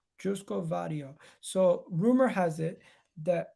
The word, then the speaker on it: Joško Gvardiol: How do you pronounce this guy's name? Let me find out. 1 second. Joško Gvardiol. Joško Gvardiol.